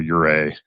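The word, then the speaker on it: Ouray: then back up to Ura, which is spelled O U R A Y.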